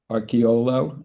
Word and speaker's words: Arciuolo: And I'm here with Matt Arciuolo. I had a little difficulty with the pronunciation, Matt.